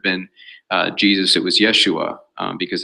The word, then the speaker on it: Yeshu: hebrew aramaic name but in the galilean dialect of aramaic they often drop the last syllable so yeshu was very probably his name so in other words